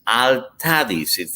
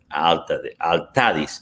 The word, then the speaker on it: Altadis: they came out with Altadis. So in Spanish it's Altadis. In English, because of the accents, Altadis.